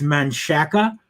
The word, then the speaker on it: Manchaca: It's Manchaca, but it's Manchac.